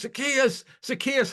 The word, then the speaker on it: Zaccheaus: He goes, Zaccheaus.